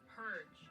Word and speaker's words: purge: It's Purge. It's a soft G. The Purge. I feel like I'm saying it. No, it's Purge. You're saying it like iceberg.